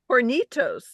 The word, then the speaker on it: Hornitos: bottle this is called Hornitos Hornitos hor Hornitos yeah but when you say it like that it sounds like you're saying horos that's what that's why